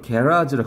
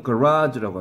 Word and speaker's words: garage: 브리티시 잉글리시에서는 뭐라고 발음해? 호주나 뉴질랜드에서 온 애가 수업을 하게 내가 물어봤어. 야, 이거 어떻게 발음하냐? 그랬더니 그게 정말로 게라즈라고 그러더라고, 정말. 게라즈 이렇게 하고요. 미국은 가라즈라고 합니다.